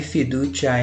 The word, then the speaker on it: fiducia: Fiducia, esse C aqui em italiano, é como se fosse em português um TCH, ti.